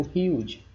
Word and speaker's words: huge: Então, toda a palavra que termina na letra E, quando a gente pronunciar esse E, vai, o som desse E, melhor dizendo, vai ser ocultado. Então, daí eu digo huge.